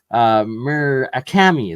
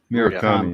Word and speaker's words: Murakami: I can never pronounce his last name right. Murakami. There we go. Aaron Murakami. Murakami, yeah.